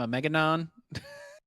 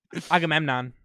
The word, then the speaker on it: Agamemnon: I I'm a I'm a I'm I'm a megaon. Agamemnon.